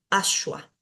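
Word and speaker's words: aśva: tengo la palabra ashua ashua tiene dos letras o dos sonidos que son particulares la s de shiva ya Y esta Va que va a sonar como una u porque está después de una consonante asua asua y la estoy acentuando en la primera sílaba luego tenemos esta palabra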